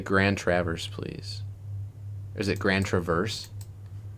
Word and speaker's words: Grand Traverse: And so that's why I think it's Grand Traverse. All right, we're about to find out from the state of Michigan pronunciation guide. Grand Travers.